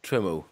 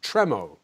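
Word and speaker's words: Tremau: you pronounce it tremo tremo tremo there we go tro the French word with an English touch thank you very much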